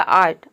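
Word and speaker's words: art: का हो जाएगा पूरा ट, पूरा हो जाएगा आर्ट।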